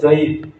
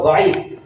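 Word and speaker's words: ضعيف: জয়ীফ। আসলে শব্দ দাঈফ। এর যে দাদ আইন ইয়া ফা এটাও জানে না, উচ্চারণ করতে পারে না, বলে জয়ীফ হাদিস।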